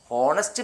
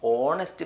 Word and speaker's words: honest: HONESTMAN ഹോണസ്റ്റ് മാൻ അല്ല, ഓണസ്റ്റ് മാൻ എന്ന് വായിക്കണം.